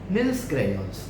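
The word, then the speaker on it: Nissl granules: Nils granules। कैसे? Nils granule। Don't put the L at the beginning in your pronunciation.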